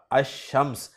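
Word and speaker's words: الشمس: आठवां हर्फ है शीन, शीन से शम्स लफ्ज शुरू हो रहा है, शम्स पर जब अलिफ लाम दाखिल होगा तो पढ़ा जाएगा अश-शम्स, यानी लाम को नहीं पढ़ेंगे, और ये एग्जाम्पल के तौर पे मैंने लफ्ज आपके सामने रखा था।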